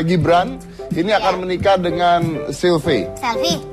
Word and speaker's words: Selvi: Tapi kisahnya adalah bahwa Gibran ini akan menikah dengan Sylvie. Itu tulisannya Sylvie. Itu tulisannya kalau bahasa Inggris bacanya Sylvie. Kalau tulisannya pakai ejaan Inggris SELVI jadinya Sylvie.